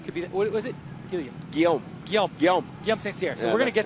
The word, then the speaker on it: Guillaume St. Cyr: But the guy, the underdog tonight, I'm telling you, the 55, Guillaume St. Cyr, Guillaume St. Cyr. I was saying it wrong. I get the French in there. I can't say it right.